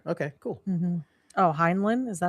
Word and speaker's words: Heinlein: Heinlein. Oh, Heinlein. Okay, cool. Mm-hmm. Oh, Heinlein? Is that how you say it? Heinlein.